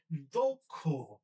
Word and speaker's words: দক্ষ: ঠিক একইভাবে আমরা যদি যখন আমাদের দক্ষ লিখতে হচ্ছে এই যে শব্দটা আমরা দক্ষ বললে ভুল হবে। এটা হবে দক্ষ দকার কষকার দক্ষ লক্ষ কক্ষ একইভাবে আমরা পরেরটাতে যাই।